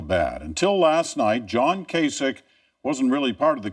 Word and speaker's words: Kasich: It's pronounced Kasich, and as they cleared out the New Hampshire headquarters for Republican John Kasich, South Carolina we go.